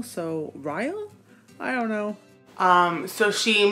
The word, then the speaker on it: Ryle: And then she meets this man named Riley. I think that's how you pronounce his name. I was wrong. It is not Ryle. It's supposed to rhyme with mile, so Ryle?